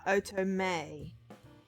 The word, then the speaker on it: Otome: o o oo OT okay right ah oo May right don't pronounce it as if you were uhoo me